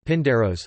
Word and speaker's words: Πίνδαρος: Pindar, Greek, Pindaros, Pindaros, pronounced Pindaros, Latin, Pindarus, c.